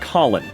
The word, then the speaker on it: Colon: Colon. Pronounced like Colin.